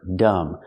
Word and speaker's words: dumb: Let's talk about the expression, dumb as a stump. If someone is very stupid, you can say they are dumb as a stump. Pronunciation, remember, dumb. The B is silent.